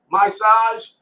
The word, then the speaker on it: Myssage Is: to massage your ears massage is it's pronounced my size and it's spelled m-y-s-s-a-g-e-i-s